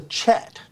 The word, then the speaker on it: kyat: The currency it's the chat. They call it the chat. But it's spelled KYAT.